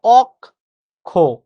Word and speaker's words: অক্ষ: আমরা মনে রাখবো অক্ষ শব্দের সঠিক উচ্চারণ হচ্ছে এটা, অক খ।